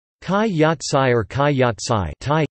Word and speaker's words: Khai yat sai: Khai Yat Sai or Khai Yat Sai, Thai, Khi Yad Crtgs, Khai Yat Sai, pronounced Kaj Jat Saj, is a type of Thai omelette.